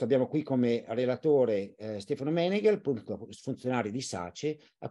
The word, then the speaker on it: Meneghel: momento ok Allora sono Stefano meneghel l'accento su gel di origine Veneta Quindi